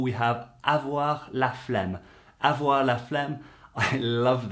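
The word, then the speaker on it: flemme: oh no no Sheila phlegm Sheila phlegm and it sounds weird because to us the word phlegm is something we get when we've got cold you know with all the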